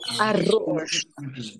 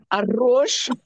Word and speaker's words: arroz: Arroz and carillo. Carillo is curry. You are noticing these words that end with L, R, and Z, they are stressed on the last syllable. Carillo. And you say carillo.